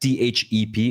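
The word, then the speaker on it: เทพ: And so that means it's pronounced TEP, THEP in Thai, Yeah.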